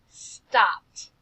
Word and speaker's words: stopped: Because sometimes this ED ending will make the t sound, like in the word stopped. Say it with me. Stopped. Doesn't it sound like there should be a T there?